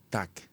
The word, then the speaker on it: TAK: La japonesa TAC, se escribe TAK-003, en un momento de